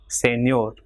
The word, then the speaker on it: señor: For example, here the word ending in R, consonant, so it will be señor. So last syllable ñor will be stressed.